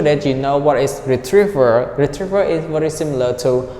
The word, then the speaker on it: retriever: we'd use this one Retriever Retriever Retriever can you repeat up to me that stress is on the second syllable retriever Retriever Retriever so Retriever